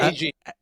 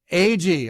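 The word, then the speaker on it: Agee: And I wasn't sure how to pronounce his last name. Adam, is it? AG. AG.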